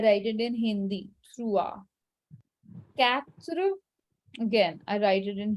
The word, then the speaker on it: quatre: It's quatre. Literally, it is quatre.